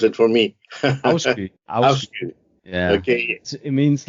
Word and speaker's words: Afsky: I know Mercury is Volkesong, and Afsky, yeah, I think you have to pronounce it for me. Afsky.